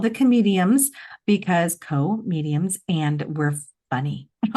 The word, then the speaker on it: comedium: There'll be a series of these comediums. You got to say it like comedium.